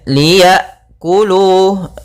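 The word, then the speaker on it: ليأكلوا: pada bacaan di sini ada huruf hamzah sukun Hamzah sukun memiliki sifat yang mencolok yaitu sifat jaharnya dan sifat syiddah yaitu tertahannya nafas dan tertahannya suara ketika melafalkan hamzahnya sukun a i u maka Liya kemudian Liya kulu Liya kulu pada lafal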